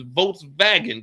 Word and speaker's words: Volkswagen: But if you want to say it like you over here in Germany, it's Volkswagen because there ain't no W's. It's all V's over here.